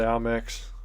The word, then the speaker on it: Amex: I'm going to say Amex. I see it. Like, amen. I just replaced the X with the N.